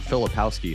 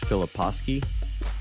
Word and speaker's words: Filipowski: last name is it it's not philipowski hunt it's Philip husky well actually you know what you got it right twice because you got it correct and in English pronunciation and then the Polish pronunciation yeah yeah so you